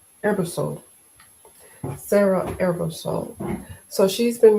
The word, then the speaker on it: Ebersole: Ebersole.